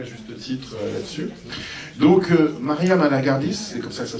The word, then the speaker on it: Maria Malagardis: Donc, Maria Malagardis, c'est comme ça que ça se prononce, hein, voilà.